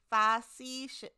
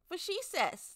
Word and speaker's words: facetious: Fascicus. No, I don't think that's how you say it, Sichel. Fascicus. I won on big on platitudes. Oh, faux-she-sus. She was being facetious. Facetious. That's what I said.